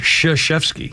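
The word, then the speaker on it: Krzyzewski: Ki yes it is that's how you it's pronounced shashki it's like crazy Zusi it's very easy to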